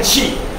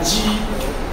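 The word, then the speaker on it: 碛: ，冰砌石这个字念气，气，请不要念成鸡，你念成冰鸡屎，考试就会给我写成绩的鸡或者是积木的鸡，啊，冰气屎，冰气屎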